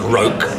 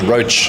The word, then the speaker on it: Roach: It's American. It's not Roke. No, man, it's Roach.